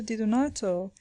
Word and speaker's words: Di Donato: The professor at once pronounced the word more distinctly, Di-do-nato, whereupon the child, without